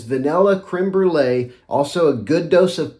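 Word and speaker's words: crème brûlée: you can imagine a vanilla creme brulee take on that's not even the right way to say it it's vanilla creme brulee also a good dose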